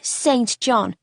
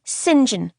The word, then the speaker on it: Saint John: glared down at her first off it's not saint john it's pronounced sinjin why on earth would